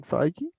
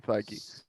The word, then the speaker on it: Feige: Yeah, would you The series was produced by Kevin Feige. I believe that's how you say his name. Yes. Yes, Kevin Feige.